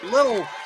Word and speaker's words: Lil: L-I-L. Lil. I said, how do you pronounce that? They say Lil.